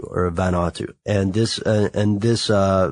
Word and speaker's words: Vanuatu: is an island called Tana or Tana in Vanuatu or vanatu and this and this uh Ben watu is